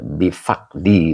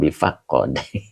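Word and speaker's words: بفقد: Bifaqdi bukan bifaqqad. Ya, faqdi itu majrur.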